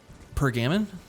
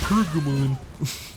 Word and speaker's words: Pergamon: And I pronounced it Pergamon, which just kind of made sense to me. It looks like the word backgammon. Sue me. And like, man, I got dunked on. There were like 5 people that were like, it's pronounced Pergamon.